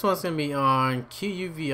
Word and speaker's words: quvi: going to be on qvi I think it's pronounced uh QV but it is a